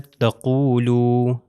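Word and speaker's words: تقولوا: اگلا ہمارے پاس ہے تقولو. تقولو اگر میں کہوں تقولو تو یہ غلط ہو جائے گا کیونکہ الف کی پروننسیشن نہیں ہے.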